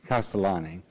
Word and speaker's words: Castellani: Castellani, how do you pronounce Castellani. it? Castellani.